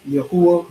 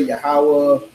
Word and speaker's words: Yahuwah: Of the Tetragrammaton, as people call it, the Yo, the Hey, the Wa, and the Hey, which is pronounced Yahuwah. You'll see other people say Yahweh, Yahweh, Yahweh.